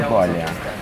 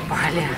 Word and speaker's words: Bali: Прекратите ездить в Таиланд, посетите Бали. Оно тоже достойно внимания, и поверьте, это будет... У вас это очень-очень удивит. Да, просто супер. Правильно говорить вот. Бали. Местные жители не Бали, а Бали.